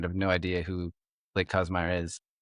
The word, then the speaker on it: Kasemeier: Oh, Kasemeier.